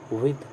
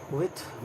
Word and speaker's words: with: WITH इसका pronunciation विद होता है, विद द के साथ अंत में। विथ बहुत लोग बोलते हैं, ठीक है, बोलने दें, आप विद बोलें, डिक्शनरी में यही लिखी हुई है।